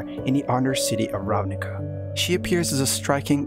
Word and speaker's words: Ravnica: as you might know ravnica which is actually pronounced ravnica is a plane whose main planet is covered